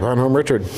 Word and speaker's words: Bonhomme Richard: home from World War II on the USS Bonhomme Richard. Am I pronouncing that right? Yeah, Bonhomme Richard.